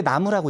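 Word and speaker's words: 南無: 그러니까 사실은 원래 음이 남무예요. 근데 나무라고 읽죠.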